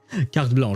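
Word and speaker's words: carte blanche: the fatoui harbingers have kart blanch I I struggle to pronounce that with the English accent car blanch I guess. Well, it's French KB blah.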